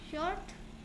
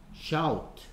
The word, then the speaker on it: shout: 그럼 오케이 뒤에 생략된 말 영어로 써보면 I'm short. I am show. I wear. 아니 처음부터요. I wear not short. Shout.